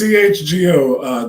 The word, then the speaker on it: CHGO: Is it phonetically just Chicago, or is it CHGO? It's CHGO. Janice told me because I asked her the same thing on Friday night.